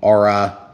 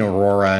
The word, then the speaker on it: Aura: Okay, so we got the RV-8 10E Aura 1280 millimeter. So it is the Aura. I keep saying Aurora, and I'm sorry, guys. It's just my mistake. It's still new for us, so I'm saying it wrong.